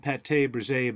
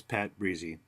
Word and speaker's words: pâte brisée: I used to think I was making Pâte Brisée, but no, it's Pâte Brisée. That's how the French pronounce it.